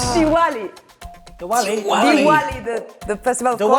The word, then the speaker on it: Diwali: Dilawi. Huh? Dilawi? No. It's not correct. So it's Diwali.